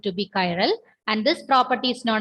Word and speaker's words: chiral: According to British pronunciation, it is chiral. Okay. I think some others are pronounced this like this, chiral molecule. But the correct pronunciation, it is chiral molecules.